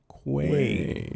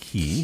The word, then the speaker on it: Quay: Quay. Not key. key. I don't know who says key.